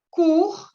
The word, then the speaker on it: cours: Encore une fois, quel jour nous avons cours, no se pronuncia la S, de français.